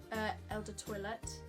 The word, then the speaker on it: Eau de Toilette: But this one is the Eau de Toilette, that's how you say it.